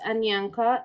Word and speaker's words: Anyanka: You can pronounce my name is Anyanka.